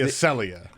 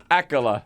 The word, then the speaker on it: Acela: I think that's my favorite, the Acelia. Acela.